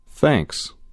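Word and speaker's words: thanks: دهید و تکرار کنید به تلفظ این واژه دقت کنید تی اچ را نوک زبانی تلفظ کنید گوش دهید و تکرار کنید یو دوباره بگویید متشکرم حالا بگویید ممنون تنکس این دو عبارت برای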